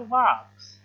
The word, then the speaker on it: walks: तब लड़की फिर से कहती है grandpa loved to गो फॉर वॉक्स। एल यहाँ पे WALKS लिखा है, इसमें एल साइलेंट रहता है, ठीक है।